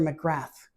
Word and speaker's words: McGrath: Alistister McGrath uh we would pronounce it McGrath in Scotland but uh